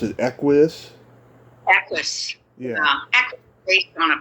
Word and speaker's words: Equus: So how do you get cast in Sidney Lumet's, how do you pronounce it, Equus? Equus.